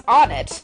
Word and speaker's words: Onett: creative a but I heard that the official pronunciation of this town's name is onit which is kind of a weird name and